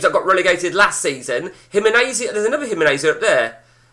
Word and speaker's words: Gimnasia: Gimnasia is pronounced Gimnasia.